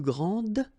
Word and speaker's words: grande: Okay, don't insist on the final E, but then pronounce this D, grande, and then exactly the same pronunciation, grande.